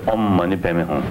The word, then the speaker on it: Om Mani Padme Hum: We Tibetan, pronunciation about the Sanskrit word, I don't think very perfect. But in any way, we just, it's Om Mani Padme Hum, like that.